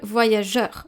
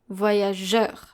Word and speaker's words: voyageur: The next case is the word voyageur, where we have G-E followed by a U, voyageur. In this case, we pronounce je, so the soft G, and then the sound E, which is E-U together, voyageur.